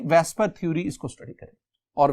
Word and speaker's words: VSEPR: वेस्पर theory, पहली बात कि ये जो वेस्पर है, वैसे देखेंगे तो स्टूडेंट लिखा हुआ है VSEPR, वेसेपर, लेकिन आप इसे प्रोनाउंस क्या करेंगे? आप इसे प्रोनाउंस करेंगे वेस्पर, तो वैसे वेसेपर है।